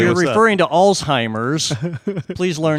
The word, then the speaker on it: Alzheimer's: But I want to strangle somebody who says, "Oh, well, he has old timers disease." Really? If you're What's that? referring to Alzheimer's, please learn how to pronounce it, and it is an actual disease.